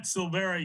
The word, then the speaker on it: Silveira: Yeah, it's Burnett Silvera. You don't pronounce the I, so okay. It's just like Silvera without the I.